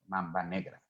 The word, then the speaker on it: Mamba Negra: Mamba Negra, they said, okay?